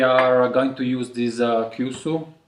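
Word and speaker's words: 急須: So here we are going to use this Kyusu. Did I pronounce it right? Yeah. Kyusu teapot.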